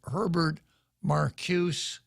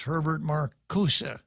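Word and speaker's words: Herbert Marcuse: was a professor named Herbert Marcus or maybe it's pronounced Herbert Marcus it's a German name and a final e in German sounds like ah in English so Herbert Marcus said what we need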